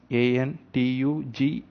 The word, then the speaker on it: Antigone: It should be pronounced as Antigone. Antigone it spells, but the pronunciation is Antugni, Antigone, by Jean Anouilh.